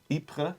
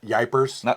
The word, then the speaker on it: Ypres: What is it again? Ypres. It's not Yipers? It's not Wipers.